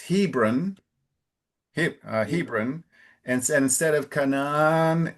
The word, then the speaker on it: Hebron: And one difference is the emphasis is usually closer to the beginning. So instead of Hebron, it's Hebron, Hebron, and instead of Canaan, it's Canaan.